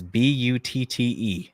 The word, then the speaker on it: Butte: It's spelled like butt with an E. It's Butte, Butte, Montana.